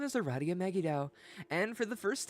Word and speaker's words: Aradia: pronounced Aradia because James was like, "Fuck that," which is based.